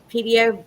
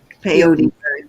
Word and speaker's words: peyote: um, so this is and I might still say it wrong, a pedio bird. Is that Peyote.